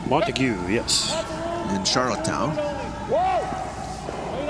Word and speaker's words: Montague: Would that be how that would be pronounced? Montague, yes.